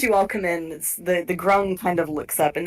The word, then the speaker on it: grung: Okay, so I keep hearing the word crumb. What? Oh, sorry, grung.